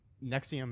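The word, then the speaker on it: NXIVM: no anyway okay um Nexium is NX I VM is how it's spelled it is a uh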